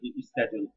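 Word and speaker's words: schedule: শিডিউল স্কেডিজউল বলে তো শিডিউল আপনার ব্রিটিশ উচ্চারণ আমেরিকান স্কেডিউল কোন আমেরিকানকে শিডিউল উচ্চারণ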